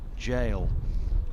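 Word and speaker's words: gaol: jd ask john logan how he explains jail if i've pronounced that correctly g-a-o-l english just doesn't follow rules unlike spanish and german no it doesn't follow any rules whatsoever stewart mcardle sent a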